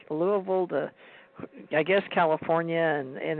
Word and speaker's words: Louisville: with when people read it they call it Louisville but you're right they pronounce it Louisville I was born there and my dad actually